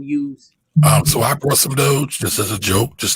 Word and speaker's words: Doge: So the Doge, am I saying it right? Doge? That's right.